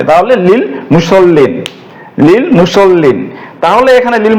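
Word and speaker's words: لِلْمُصَلِّينَ: হরফের যুক্ত হওয়ার কারণে এই হামজাতুল ওয়াসালটি আর উচ্চারণ হবে না সরাসরি এই লিটা এই লামকে ধরবে তাহলে লিল মুসল্লিন লিল মুসল্লিন তাহলে এখানে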